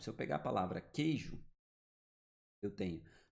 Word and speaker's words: queijo: O que aconteceu no queijo? Ó, esse QU virou um dígrafo. Beleza? Ele é nulo, ele não produz som. O QU tem som de K. Então, quando o QU tem som de K, ele é dígrafo.